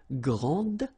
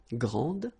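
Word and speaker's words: grande: you will pronounce it Grand okay don't insist on the final but then pronounce this D Grand and then exactly the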